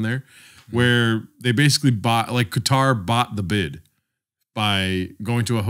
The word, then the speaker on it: Qatar: I think it's pronounced Qatar. Yeah, in Arabic, it's Qatar.